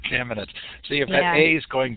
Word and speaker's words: Kamenetz: Kamenetz is probably more correct from a Slavic point of view, but we say Kamenetz. Kamenetz.